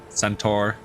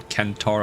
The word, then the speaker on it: centaur: arrows and rushes around it's like a centaur or kentor as it should be but you know everyone